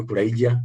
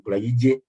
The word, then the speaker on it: Kulayigye: I know Banyankole and Bachiga call me Kulayigye, but I'm Kulayigye with an E.